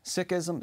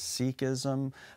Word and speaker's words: Sikhism: moments what is Sikhism Sikhism sometimes in English people pronounce this as Sikhism but actually the probably the better pronunciation closer to the to the Punjabi name of the religious tradition is Sikhism the word